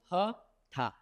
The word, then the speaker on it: Hatha: So Hatha, it is again made up of two syllables like Guru. It is now this is having Hatha. So this Ha is coming from the syllable Hakar. And this Tha is coming from the syllables of Thakar.